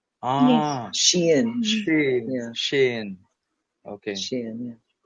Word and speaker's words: SHEIN: Shine, fast fashion, and what is really cost. I think it's pronounced Shein. Ah, Shein.